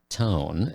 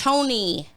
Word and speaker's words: Tony: So now they have nicknames, Tone and Malik. It's Tony. The E is long.